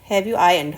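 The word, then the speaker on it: iron: Okay, फिर इसमें भी करना है हैव यू आयरन्ड, आयरन बोलते हैं बच्चों, इसमें आर साइलेंट रहता है, have you आयरन्ड the uniform, got इट।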